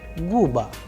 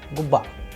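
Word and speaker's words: губа: So the udareni was on a, so the sound would be guba, not guba.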